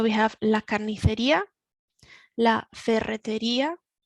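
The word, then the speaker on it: ferretería: la carniteria la ferreteria this is one that can cause problems with the pronunciation so we need to remember that we roll the double r's in spanish and then we've got the strong the strength at the end of the word la ferreteria the hardware shop la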